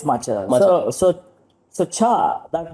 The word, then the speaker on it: matcha: matcha machaa so sry it's not machaa it's just Macha it's matcha so so so cha